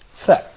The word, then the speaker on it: ف: This letter is pronounced like the English F, fe, as in feather, which is a connecting letter with a relatively stable shape.